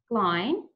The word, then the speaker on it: Glain: Glain - pronounced like "shine" - Roberts-McCabe is the